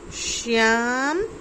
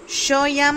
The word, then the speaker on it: श्याम: श्याम, शयाम नहीं बोलना है, श्याम।